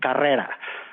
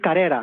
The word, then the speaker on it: Carrera: I was able to pronounce her last name properly Carrera and he said how is it that you can say car Carrera yeah that everyone here says carera and I said well